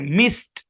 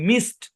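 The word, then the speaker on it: missed: এর মত ঠিক আছে মিসড এরকম হবে মিসড মিসেড এরকম হবে না এখানে মানে ই ডি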